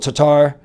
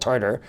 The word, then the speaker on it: Tatar: I think Latvia as we mentioned including the two connects, Slovakia, Pospascil, Tatar or Tartar, Tatar, Thomas Tatar, not Tartar. It's not fish and chips.